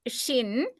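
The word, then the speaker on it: שׁ: If it is in right hand that is pronounced as shin. If it is in left hand side it is pronounced as sin and it is considered as two different letters.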